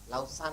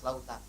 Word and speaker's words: lautan: di kamus bahasa Indonesia enggak ada lausan itu enggak ada harus lautan ya semangat ya Waja ya